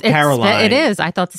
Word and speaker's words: Carolyn: you pronounce that Caroline. Yeah. At least I do.